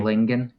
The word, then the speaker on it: Lingan: na your last name i always say that it rhymes with singing in the rain so it's just lingan lincoln lingan yeah okay